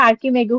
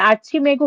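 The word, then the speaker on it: Archimago: ওকে, এটা আর্চ হবে, কিন্তু এখন এভাবে যখন থাকবে তখন এটা আর্কিমেগু হবে, উচ্চারণটা আর্কিমেগু হবে, আর্চিমেগু না।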